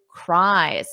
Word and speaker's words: cries: But in this case, there is no extra syllable. So listen to that pronunciation.